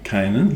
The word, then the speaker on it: Canaan: lived south of, how do you pronounce it? Canaan? Canaan, yeah.